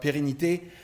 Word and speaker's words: pérennité: Now, in terms of preservation, in French we talk about pérennité, which rhymes with sérénité or serenity.